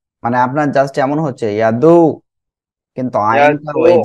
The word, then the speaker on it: يدعو: فذلك الذي يدعو اليتيم মানে আপনার জাস্ট এমন হচ্ছে ইয়াদু, কিন্তু আইনটা ওই যে আইনে একটা বাঁক আছে, একটা মানে এক কথায় উচ্চারণে গলাটা চেপে উচ্চারণ করতে হয়, এটা হচ্ছে يدعو ইয়াদুল।